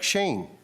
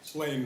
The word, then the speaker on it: Slain: Shane. What's that? Slain with an L. Oh, okay. SL. He SL. has a speech impediment. It's spelled differently. Okay, cool. I see. So Slain. Okay, please state your name